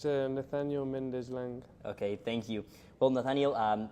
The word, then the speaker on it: Nathaniel Mendez Laing: I don't know if you can tell us the correct pronunciation of your name and last name? It's NATHANIEL MENDEZ LAING.